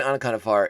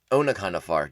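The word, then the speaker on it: Onaconda Farr: Yeah, so this is when Anaconda Far is realizing... Onaconda Far, jeez. Pronounce the O a little bit harder, Tom.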